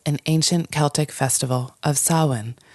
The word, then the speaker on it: Samhain: ancient Celtic Festival of Sinn spelled s a m ha a i n so nothing it's not pronounced anything like the way it looks but pronounced Sinn and sinin is a